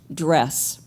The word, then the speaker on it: DRES: as DRES, the acronym, and it is always pronounced DRES.